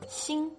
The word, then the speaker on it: 心: Xi plus e plus n makes xing, as in heart.